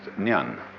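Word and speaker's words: 念: a very interesting sign it's pronounced Nan in Japanese n and the top part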